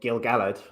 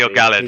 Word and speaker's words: Gil-galad: I would love to know what Uh, the feeling I have about Gil-galad, or Gil-galad as he should be, Gil-galad. Yeah, his right, name right. should be pronounced.